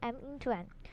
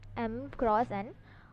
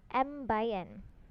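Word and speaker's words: m × n: You should not pronounce like m into n. It is pronounced as m cross n or m by n.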